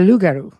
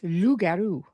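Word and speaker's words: loup-garou: Rugaroo is a New Orleans lugaru. Lou is French for wolf. And so up here it's lugaroo.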